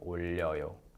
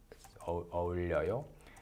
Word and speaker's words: 어울려요: as their mother tongue, they often mispronounce this because 어 and 우 kind of separated, distinguished is a challenge for many of them. So they often sound like 올려요. So when it's 어울려요.